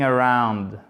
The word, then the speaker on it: around: Around, pas around. OK? Around. Là, c'est la même chose. Vous voyez, ça commence par un A et après, on a l'autre syllabe. Du coup, l'accent tonique, à chaque fois, il est sur la seconde syllabe.